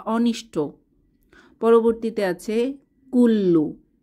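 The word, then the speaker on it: كلّ: বা অনিষ্ট পরবর্তী আছে কুল্লু কাফ দম্মা লাম সাদ্দা কুল লাম দম্মাু কুল্লু কুল্লু অর্থ সকল বা প্রত্যেক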